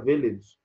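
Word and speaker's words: ville: قريه، فيلاج، هي فيليج بالانجليزي لكن بالفرنسي اسمها فيلاج.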